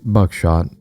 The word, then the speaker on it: Bucksath: of the original owners, the Bucksath, pronounced Buckshot family.